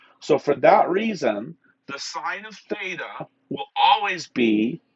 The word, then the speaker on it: sine: four sin theta now it's not actually sin sin is a short form for sine so we actually pronounce it sine the sine of theta